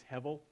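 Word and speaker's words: hevel: the Hebrew word heav we usually spell it with a B but it's pronounced with a V so it's it's heav and it is found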